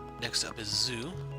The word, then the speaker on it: ぞ: ぞ Pronounce it as zo, like in the word zone.